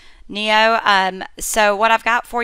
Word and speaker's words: NIO: an update on what I think is pronounced NIO. It's NIO. NIO.